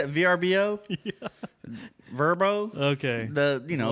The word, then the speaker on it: VRBO: Verbo.